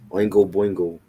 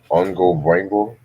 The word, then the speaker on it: Oingo Boingo: Oingo Boingo. That's how you say it. That's how you say Yeah, Ongo Bon Oingo Boingo. Ongo Boingo.